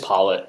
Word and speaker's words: Pollot: It's just Pollot. Yeah. It's Oh, Pollot.